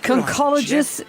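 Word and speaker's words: conchologist: Concologists collect shells cuz it's spelled conologist and conch was the giveaway, but it's pronounced concologist.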